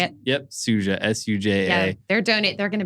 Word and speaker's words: Suja: And that's So it's Suja. like, it's 2 years. Is that how you say it? Yep, Suja, S-U-J-A.